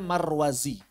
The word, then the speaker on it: Marwazi: Kalau pakai zai bacanya Marwazi. Kalau antum nemu nama pakai dzal marrudzi bacanya ini. Marrudzi kalau pakai dzal. Kalau pakai dzal marrudzi. Kalau pakai zai marwazi.